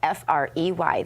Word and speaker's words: Frey: Okay, look, the name is spelled F R E Y. That's like Frey. Frey is what is ancillary and doesn't matter. So, free fry fro from I'm just going to say Frey.